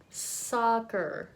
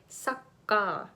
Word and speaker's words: soccer: has oh oh ah so this is the same as in hot hot or college college I think so at college so hot college soccer it's the same vowel this one hot soccer hot soccer please practice that if you say sucka sucka you're using the schwa sound which makes it sucker so please be careful